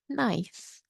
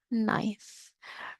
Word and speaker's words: knife: we call this a knife knife remember the K is silent so you don't really hear this k it's almost like you're